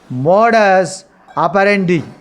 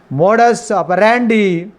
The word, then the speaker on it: modus operandi: Legal term is modus, modus, modus operandi. Modus operandi or modus operandi, both pronunciations are correct.